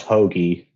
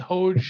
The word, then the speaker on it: Hoge: week and i still can't believe it's pronounced hoagie i know i'm just father's name i went with hoge for a long time and then reading dfs